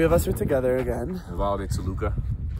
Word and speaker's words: Nevado de Toluca: Nevado de Toluca. Nevado de Toluca. That was with correct pronunciation.